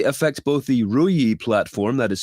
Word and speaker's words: Ruijie: Researchers at Clarity, that is CLAROTY, discovered the flaws that they say affect both the RUIE platform, that is spelled RUIJIE, as well as RUIE OS network devices.